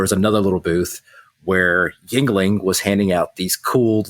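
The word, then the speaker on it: Yuengling: I've never heard someone say it yeah it's pronounced Yingling Yingling huh Yingling yeah I've been saying it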